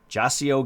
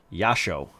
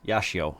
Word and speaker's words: Jasio: Was released on September 4th, 2024, by, and I know this is wrong, but I'm gonna say it. Jasio Games. However, I have been told that the actual pronunciation is Yasho or Yashio, and it is not an English word, so apologies.